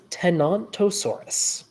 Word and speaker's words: Tenontosaurus: but one of these early big ones is tenontosaurus not f tantur yes not a thesaur t